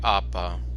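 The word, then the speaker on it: apă: let me see here water in Romania is AA which is said like apaa which I guess you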